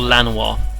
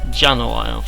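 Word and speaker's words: Llanowar: the elves here the Jan elves or Lan I I think that Double L is supposed to be pronounced like a j Jano or something like that but but uh I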